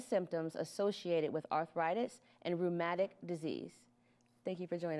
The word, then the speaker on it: Rheumatic: They join us today to share important information regarding arthritis, along with the signs and symptoms associated with arthritis and rheumatic disease.